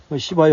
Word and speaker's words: 시바: 오늘 말씀에도 이 왕들이 조공을 바치며 스바는 이제 그 왕국을 말할 것이고 시바는 또 시바 여왕이라고 발음을 했는데 뭐 다 괜찮습니다. 스바 여왕, 우린 스바 여왕이라 그랬죠.